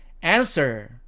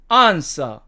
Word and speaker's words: answer: 다음에 이 세 번째 단어는 미국식 발음으로는 answer, 영국식 발음으로는 answer.